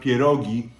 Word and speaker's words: pierogi: good and then next to it we have parois now we have a lot of parois here and peris really it's pronounced perogi are usually um boiled okay but so that's